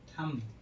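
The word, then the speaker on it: thumb: थम, थम माने होता है अंगूठा, यहाँ पर भी बी के पहले क्या आया है, एम, इसलिए बी क्या रहेगा, साइलेंट, बी का उच्चारण नहीं होगा।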